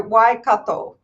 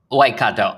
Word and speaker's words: Waikato: have said it uh pretty well correctly so why kato waikato okay yeah all right then so why don't